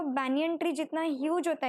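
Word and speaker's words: banyan: अब याद रखना ये बनियान ट्री नहीं है, बनियन नहीं बोलना है उसको, ये प्रोनाउंसिएशन गलत है, अब तक की सारी बैचेस यही बोलती थी, इट इज बैनियन ट्री।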